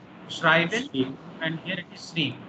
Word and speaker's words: schreiben: You see the spelling also changing. Here it is E-I and here it is I-E. So this you have to keep in mind and accordingly you should pronounce. Schreiben and here it is Shreeb.